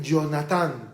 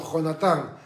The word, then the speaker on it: Jonatán: He escuchado algunas personas que pronuncian Jonatán, pero es castellano y en el castellano la J se pronuncia jajejijoju. Así que el nombre no es Jonatán, sino Jonatán. O como el famoso futbolista